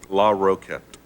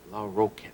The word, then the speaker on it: Larroquette: Now, you say it. Larroquette. Larroquette. 3 syllables.